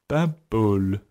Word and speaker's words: Paimpol: Paimpol. Paimpol. And it sounds more like bubble than a town name. Yeah. Think of bread. Right. Pain. And then pol. Pol. Paimpol.